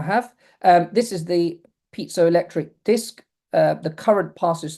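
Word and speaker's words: piezoelectric: word which are called pizo electric effects people pronounce it differently could be piso electric or Peto electric um materials but these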